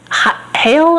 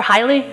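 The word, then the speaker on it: Haile: her first name is Rahawa Hail or Hily. Hily, H A I L E.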